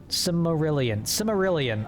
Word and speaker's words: Silmarillion: Silmarillion, okay.